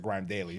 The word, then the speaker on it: GRM Daily: So actually transitioning into that, hosting Grime, I pronounce it Grime Daily.